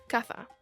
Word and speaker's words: caza: house, in some regions it will be said with a S sound to sound like casa, while in others it may have a TH sound to sound like caza.